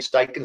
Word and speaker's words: Steichen: Or this year, Steichen did well. That is Shane Steichen's how you say it.